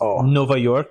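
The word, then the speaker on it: Nova Iorque: really funny is that New York is Nova York oh yeah yor but it's spelled i o qu e oh you spell it differently okay yeah because it doesn't like why doesn't exist in Portuguese yeah okay so you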